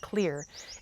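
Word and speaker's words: Xlear: It's spelled with an X though, so X L E A R, but it's pronounced clear.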